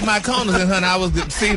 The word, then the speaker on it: Mykonos: The Kaluna Day, my Kaluna Day is, how you pronounce even Mykonos? It's Mykonos.